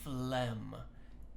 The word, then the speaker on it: phlegm: and we call that phlegm you might know what phlegm is but this is how you spell it and it's very very different than how you pronounce it and the last